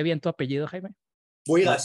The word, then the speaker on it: Buhigas: Buigas, sí, es muy frecuente que se pronuncie mal. Bujigas, Boigas, Bujaigas, pues en fin, perfecto, Buigas, con las intercaladas, sí.